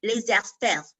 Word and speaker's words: laissez-faire: I don't know if you've heard about, I hope I'm saying it properly, laissez-faire. I think that's how they say it in French.